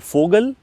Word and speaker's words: Vogel: also played by Mr Fogel that is Mr Vogel V is pronounced as F in German so Mr Fogel also